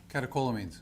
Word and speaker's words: catecholamines: Catecholamines.